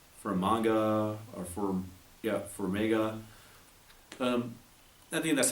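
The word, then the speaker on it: Farmiga: will veer uh from manga or firm yeah for mega nothing that's how you pronounce her name she's she's actually not just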